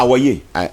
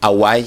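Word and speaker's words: Awae: À Hawaii. No, Awai.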